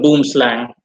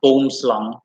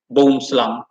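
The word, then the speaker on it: boomslang: boom is pronounced bone it's pronounced more flat like german bow means tree and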